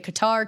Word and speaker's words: Qatar: was never going to Qatar cutter however you prefer to pronounce it but like you know